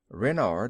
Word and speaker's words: Renard: Renard with the accent on the ren.